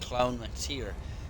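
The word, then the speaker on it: Clann MacTire: That's how it's spelled, but it's actually pronounced Clown MacTire.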